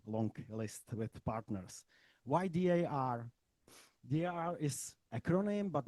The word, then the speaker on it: dar: Why D.A.R? D.A.R is acronym, but not only. D.A.R is on the one hand, this acronym means also in the Czech pronunciation dar.